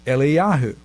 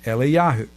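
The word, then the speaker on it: Eliyahu: prophet elijah in israel his name is not elijah in hebrew it's eliahu but if you're talking to israelis in israel in casual conversation about the prophet elijah they refer to him as elie yahoo same is true with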